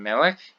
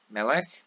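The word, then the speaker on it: מֶלֶךְ: So again, something that's significant about these is that the stress, instead of being on the final syllable, is here on the syllable before the end. So the penultimate syllable.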